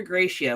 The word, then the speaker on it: Grecia: So, and if you're interested, it's near Gracia, which is spelled Grecia, which is outside of San Jose, which is their main city and the airport we're flying into.